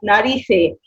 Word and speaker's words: nariz: لو هي يا روان زي ما بتقولي في ايه هتنطق ناريسي، عشان احنا قلنا احنا بننطق كل حاجه. هي ناريس بس ان ار اي زيتا. ناريس اللي هي المناخير، الانف. ماشي يا ريا، الله ينور. ثيتا اللي هي الزي بالذات.